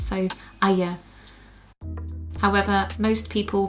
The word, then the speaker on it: Arya: Thrones books says that's the proper pronunciation for her name is two syllables so Arya, however most people pronounce